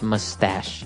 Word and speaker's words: mustache: little bit uh difficult to understand how you pronounce it because it's m-u-s t a c h e so there's no really sh sound like sh but you pronounce it mustache mustache yeah so that's one kind of facial